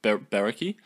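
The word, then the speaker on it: Brecci: Camo for the Berekki 205 Berekki.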